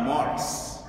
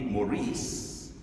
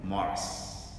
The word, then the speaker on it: Maurice: It's spelled as or pronounced in the French way. The American way would be Maurice, but my mom called me Maurice because that's the way the Brits pronounce it, and I have to